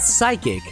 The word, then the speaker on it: psychic: so remember kid K when writing the word psychic always understand that the p in psychic is silent why is it silent